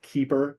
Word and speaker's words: KEEPR: I have recently been apprised of a competing program called Keeper that is significantly less in cost. It's spelled KEEPR.